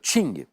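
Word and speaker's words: Qing: par la dynastie mandchu des Chings ça s'écrit King dynastie impériale chinoise associé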